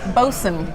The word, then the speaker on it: boatswain: It's pronounced bosun.